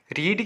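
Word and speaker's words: read: रीड की second और third form की स्पेलिंग सेम होती है, लेकिन इसे हम प्रोनाउंस रेड करते हैं सेकंड और थर्ड फॉर्म में।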